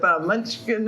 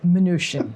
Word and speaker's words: Mnuchin: out over there with Munchkin, or how do you say his name? Why would someone have an M in it? Was it Munch? How do you say his name? Mnuchin. Oh, Mnuchin. Okay.